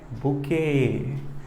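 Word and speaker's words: bouquet: बुके। तो यहाँ क्या होगा? बिल्कुल BUQUET, बुके, प्रोनाउंसिएशन बुके।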